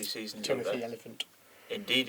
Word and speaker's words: Oliphant: But it's spelled like the way that That it's was spelt in Lord of the Rings. Almost. Just missing a Almost. U. Yeah. Oliphant.